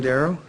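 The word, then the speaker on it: Darrow: spell your full name for the record darl um last name darl d a r r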